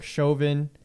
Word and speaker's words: Chauvin: name chauvin that's how you say it derek chovin uh his case uh i guess that's is